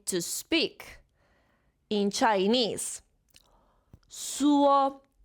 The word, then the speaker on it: 说: 说 first tone. 说 Repeat after me. 说 That's perfect. Okay.